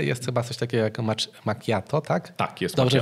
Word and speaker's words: macchiato: Jest chyba coś takiego jak macchiato, tak? Tak, jest. Dobrze wymawiam, tak? Tak. Czy... Chociaż ja bym się już nie śmiał, powiedziałbym ci wprost, jakbyś powiedział źle, bo słyszałem milion macchiato, mocajato, słyszałem espresso mojito, przeróżne wariacje.